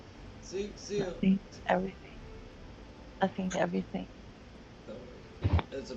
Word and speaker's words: Zeon: And their name is phonetically what you would be saying if you were saying Zion in Japanified English.